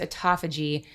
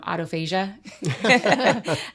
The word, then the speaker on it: autophagy: Um but this process when we go into fasting it's pronounced autophagy. The dyslexic in me says um autophasia.